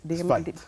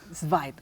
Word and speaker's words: Zweig: Zweig. Zweig, gracias. Claro, es alemán, una No, pronunciación medio rara.